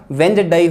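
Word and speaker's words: Wednesday: तो इसका सही उच्चारण जो होगा वो क्या होगा, वेंजडई होता है।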